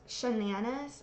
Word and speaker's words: Shannanas: So here we have Rae duetting the user, I believe it's Shannanas, which rhymes with bananas.